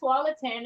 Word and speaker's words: Tualatin: First, I couldn't even pronounce it. So I was like, then somebody said it's called Tualatin.